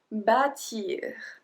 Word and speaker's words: bâtir: Numéro 8, bâtir. Bâtir. So because of the accent circonflexe on the A, we pronounce it a bit longer.